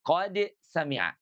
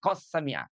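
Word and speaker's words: قد سمع: Jadi qad sami'a dibacanya jelas qad sami'a. Dia idhar, bukannya idgham, tidak qas sami'a.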